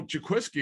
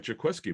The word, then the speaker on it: Jaquiski: yeah uh you would it looks like jake whiskey but it's uh in fact his